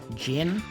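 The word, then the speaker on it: Djinn: go that is a gin bottle I believe that is supposed to be the shorten term for Genie gin which is usually spelled DJ i n n this might be a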